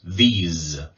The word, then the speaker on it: these: the plural form now these what you want to do is you want to make a z sound at the end these because that distinguishes this